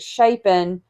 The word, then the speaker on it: Shapen: Like it sounds like Champagne, but you don't put the M in it.